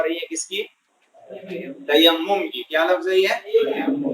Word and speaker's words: تیمم: کیا ہے یہ اس کا پروننسیشن تلفظ کیا ہے؟ تیمم.